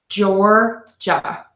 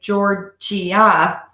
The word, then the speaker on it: Georgia: gut and the G Georgia Georgia Georgia Georgia can be really careful of this I a here at the end we don't say giorgia it's just two quick beats Georgia Georgia Georgia Georgia